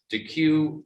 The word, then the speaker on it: Deque: DeQ, and that's spelled DEQUE, has something called DeQ University that